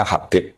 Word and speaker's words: Habib: Itu di harakatnya kitab itu ada yang nulis khubb. Tapi yang benar Oh, nggih. Yang benar itu bacanya Habib.